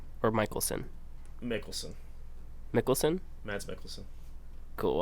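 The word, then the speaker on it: Mikkelsen: same kind of tier of actors uh mads mickelson or michaelson mickelson nicholson mads michaelson cool i said it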